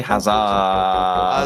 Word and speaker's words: Haza: Haza, he doesn't have 2 syllables, you can't, or well, 3 syllables. Garrett G, Haza. Just say Haza.